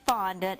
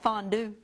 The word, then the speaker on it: fondant: spelled f-o-n-d-a-n-t fondant fondant people call it fondue or do that yes they do they want some of that fondue well it's not fondue it's fun when we do fondue it's kind of